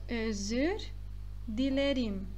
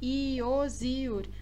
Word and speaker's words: özür dilerim: Vocês não vão falar iozür, assim é errado. Não está certo. Então, é um i bem rápido.